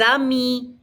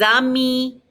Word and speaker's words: amis: Les amis. Don't pronounce the S's on the end. Les amis.